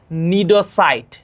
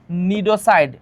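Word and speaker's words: cnidocyte: এই কোষটার নাম হচ্ছে গিয়ে নিডোসাইট। এখানে সি এর উচ্চারণ হয় না, সি এর উচ্চারণ হয় না।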